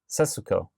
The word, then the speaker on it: Setsuko: But they never pronounce the su. It's yes, they do. Setsuko.